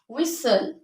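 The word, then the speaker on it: whistle: ई दोस words च Indus with S टी एल E they gut टी S silent letter for example कसल हल हसल हसल विसल विसल पसल पसल okay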